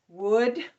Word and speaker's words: would: And that is ow, o, oo, That is the fourth sound of that phonogram. Would.